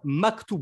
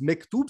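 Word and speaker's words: مكتوب: à une lettre près c'est facile en arabe c'est Mac tube le E devient a en arabe parce que le a se prononce légèrement c'est un qui est plus doux et plus aigu que le a français donc on dit en arabe Maktoub et maghrébins disent mektoub c'est le mektoub et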